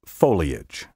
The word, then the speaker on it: foliage: variants truly beastly mispronunciations take care to pronounce these words in three syllables verbiage and foliage now for a word